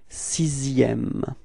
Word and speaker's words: sixième: with it is that this X in the middle, or maybe not in the middle, but actually in the sixième word, is pronounced like s. Okay, so it's not X really, okay? So you pronounce it like s.